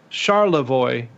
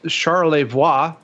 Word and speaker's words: Charlevoix: so the locals say char Lavoie that's how the locals say it the French version is Charlevoix because he was a